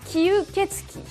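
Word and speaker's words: 吸血鬼: Mais il existe un mot plus traditionnel, écrit en kanji comme cela, qui se prononce kyuketsuki.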